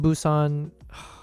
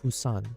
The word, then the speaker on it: Busan: I lived in Busousan. I feel so non Korean when I pronounce it that way. How do you pronounce it? Busan. Busan.